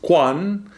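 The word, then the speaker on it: 觀: number 47, which is, I'm going to attempt the Chinese pronunciation, kun. Then we had number 20, which is quan. And then we had number 29, which is kan.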